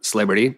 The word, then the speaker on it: East Liberty: from downtown to uh celebrity which is how Pittsburgh people pronounce East Liberty and I saw someone